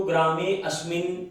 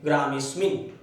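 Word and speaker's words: ग्रामेऽस्मिन्: आप जब इसको पढ़ेंगे तो ग्रामे अस्मिन आप ऐसे नहीं पढ़ेंगे, आप पढ़ेंगे ग्रामे और इसको छोड़ देंगे सीधा स्मिन, ग्रामेस्मिन।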